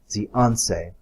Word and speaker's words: Zhuangzi: Not pronouncing that right, I'm sure. Let me try that again. Zhianse.